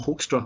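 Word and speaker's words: Hoekstra: joel with a call i don't know if i'll say it right the joel hofstra album dutch ancestors say the name but i i'm that's how we say it here in the u.s and that's how he says it didn't mangle it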